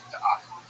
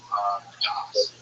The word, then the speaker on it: Da'at: And that new Torah is going to inaugurate a new religion that he calls Da'at, wisdom, knowledge, Das. Is how you say it in Ashkenazi Hebrew, but this idea he's